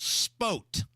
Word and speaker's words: sport: Per Troy Kennett, it's sport was a sport, but it's pronounced spote. Spote. S-P-O-T-E. With a little Southern Indiana It's accent.